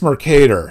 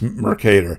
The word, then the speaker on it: Mercator: you pronounce this word it's it's mercator after the the famous cartographer uh geraldis mercator it's mercator it it rhymes with potato uh don't you say